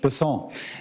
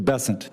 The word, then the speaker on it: Bessent: Bessent, I'm always going to pronounce your name as if it was in South Louisiana, and I'm going to pronounce it with a French Bessent as opposed to Bessent.